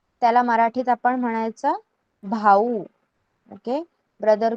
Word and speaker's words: भाऊ: Okay, brother, brother भाई कहते हैं हम हिंदी में, त्याला मराठीत आपण म्हणायचं भाऊ. ओके, ब्रदर को हम कहते हैं भाऊ.